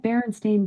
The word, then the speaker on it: Berenstain: Is it pronounced Alexa, is it Berenstein Bears or Bearstein Bears? I pronounce that Berenstain Bears, but I'm always working on how I say things and I might not have it right.